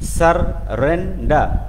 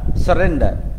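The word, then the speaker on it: surrender: আছে সারেন্ডার সারেন্ডার সারেন্ডার উচ্চারণটা ভালো করে করবো আমরা ডাবল আর এর উচ্চারণটা যেন আসে সার রেন্ডা সারেন্ডার given সারেন্ডার okay next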